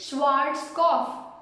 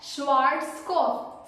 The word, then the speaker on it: Schwarzkopf: So this product mainly the people call it as, the correct way is Schwarzkopf. Schwarzkopf.